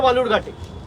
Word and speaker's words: বালুরঘাট: আরে আপনি যেখান থেকে লড়ছেন তার নাম ভুল উচ্চারণ করছে, বিকৃত করে বালুরঘাটকে বেলুরঘাট বলছে। আপনি গিয়ে বলতে পারেন না যে অমিতজি এটা বেলুরঘাট নয়, এটা বালুরঘাট?